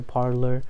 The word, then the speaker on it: Parler: so it's pretty cool they used to be parley but then now they made a parlor because it's kind of like you know like a parlor like a place for